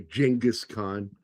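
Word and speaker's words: Genghis Khan: Or as uh John Kerry would say, Jenis Khan. God, I hate pretentious people. I told you that's how we learn it. That's how German speaking people say his name.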